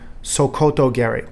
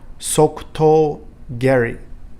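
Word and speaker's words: sokuto geri: in the united states say sokoto gary that is the incorrect pronunciation let's do it together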